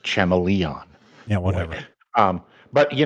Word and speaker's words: Chameleon Boy: out what's going on it's actually pronounced chamon yeah whatever um but